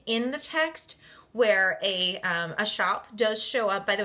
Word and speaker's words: scop: And there is a scene in the text where a shop does show up. By the way, shop is spelled SCOP.